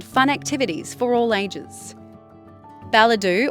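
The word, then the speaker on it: Ballidu: activities for all ages balidoo or as the locals say balaju is the shire's second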